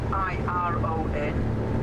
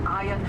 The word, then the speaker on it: Iron: Of course, uh here they're spelling it I R O N. Iron is the correct pronunciation. Until recently, there was a big uh sign here saying to the iron forest.